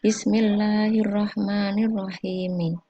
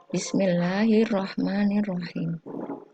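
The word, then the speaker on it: بسم الله الرحمن الرحيم: Ini di akhir katanya sebenarnya ada tulisan mim sama kasroh. Jadi kita ulangi ya. Bismillahirrahmanirrahim. Tapi dalam keseharian kita cukup membacanya disukunkan pada huruf akhir basmalahnya. Bismillahirrahmanirrahim.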